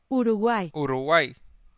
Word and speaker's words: Uruguay: Now, hold on, not American. British. Uruguay. Wait. Spanish? Uruguay. Uruguay. Uruguay. Okay. That's how you pronounce the name. Uruguay.